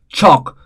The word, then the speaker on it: chalk: Chalk, again L is silent.